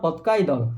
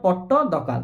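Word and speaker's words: Pattadakal: पिला माने 20 नंबर पतकाई दल है सॉरी पत दकाल है पदकाल है पत्त डकाल है पत्त डकाल उच्चारण टे देखो पे पट्ट दकाल है पट्ट दकाल डांस फेस्टिवल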